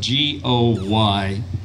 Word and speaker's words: Goy: His name is spelled G-O-Y, and you wouldn't think that that's the pronunciation just from looking at that, but I figured out a way to pronounce his name. I told him, I don't think he appreciated it, but I said, it's just like guacamole without the camole.